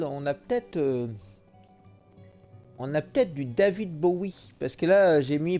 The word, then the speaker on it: Bowie: out this huge rusty Bowie knife. It's actually pronounced Bowie. What? No, it's like the last name, like David Bowie. Different last name.